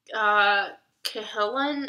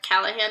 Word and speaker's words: Cahalan: on Fire by Susanna Cahalan. I don't know. She like says how people always call her Callahan, and that's not right.